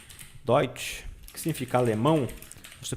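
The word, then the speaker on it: Deutsch: colocar a pronúncia da palavra dot aqui ó doit que significa Alemão se pronuncia assim doid tá as letras e um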